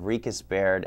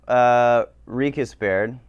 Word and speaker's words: RiechesBaird: So, RiechesBaird. RiechesBaird. A lot of people pronounce it RiechesBaird. We get all sorts of pronunciations, yeah. Yeah. But it's RiechesBaird. RiechesBaird.